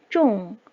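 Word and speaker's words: 重: 다음에 무거울 중 차인데요 무거울 중 짜는 중국어 발음 도중 가 피스 태 요 쫑 이 걷다 라는 뜻이죠 무겁다 그러면 또 쫑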